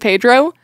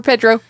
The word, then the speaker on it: Pedro: It's like no, the Spanish E is pronounced like an A. Uh-huh. Like jalapeno. Yeah. One of those things that I get unreasonably frustrated at. All right. Vote for Pedro.